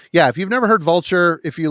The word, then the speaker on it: Vultyr: But yeah, if you've never heard Vulture, if you like the scathing raw black metal, this is Vultyr.